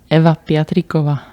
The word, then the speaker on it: Eva Piatrikova: Eva Piatrikova.